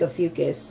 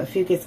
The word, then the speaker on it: Ophiuchus: And I don't think Ophiuchus, which is how it's pronounced, Ophiuchus gets enough clout.